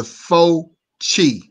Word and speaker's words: Fauci: Let me teach you how to pronounce Italian. Hold on. Yeah. It's okay. This is the Fauci.